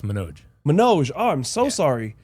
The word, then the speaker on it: Manoj: It's pronounced Manoj.